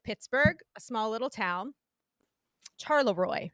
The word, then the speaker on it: Charleroi: Charleroi is how it's pronounced, I believe.